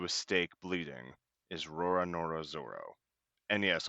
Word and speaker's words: Zoro: They arrive at base headquarters, where just outside, tied to a stake bleeding, is Roronoa Zoro. And yes, I'll be using Zoro as the pronunciation despite Viz's spelling.